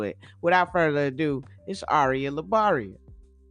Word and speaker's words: Aria LaBaria: guess now do i spell it do i pronounce it ariah arya arya arya labaria ladies and gentlemen see i said it right